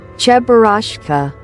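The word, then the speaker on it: Cheburashka: Charashka. Oh, that's how you say it. Uh, yeah. Anyways, Chbarashka.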